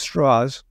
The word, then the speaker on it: Strauss: Strauss, spelled Strauss but pronounced Strauss, was the former head of the Atomic Energy Commission.